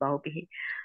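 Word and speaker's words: bahubbīhi: Okay, so remember it's a bahu bihi. Here you don't put a long I here. Actually, it's bahu bihi.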